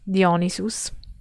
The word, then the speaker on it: Dionysus: Oh, for example, a Dionysus, sorry, I'm pronouncing it the Latin way, Dionysus, related ritual in the